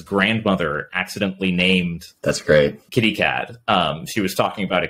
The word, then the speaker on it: KittyCAD: Kitty Cat. She was talking about a kitty cat, and she had a very kind of biased pronunciation towards the end, towards CAD, when she said it.